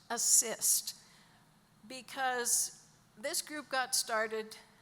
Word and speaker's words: ASST: which is abbreviated ASST, which is pronounced assist, because this group got